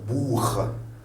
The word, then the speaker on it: Buch: Donc, A avant CH, ça devient H, Nacht. O avant le CH, c'est un Woche. Le O avant le CH, c'est un Buch.